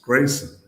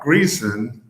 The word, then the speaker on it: Greason: early on um that our last name was pronounced Grayson. Not Greon, not Gleon like Jackie the comedian from the mid 20th century, but um Gray Grayson.